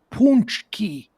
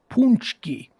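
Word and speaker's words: pączki: by the way punchy uh for all you punch key is spelt p a c p a c z k i p a c z k i p a c z k i pronounced punch key punch key it's a polish donut day that's uh you're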